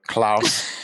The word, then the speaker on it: Klaus: because it's being recorded Klaus is there because in a New Zealand accent it's like claws Iook at claw but um yeah class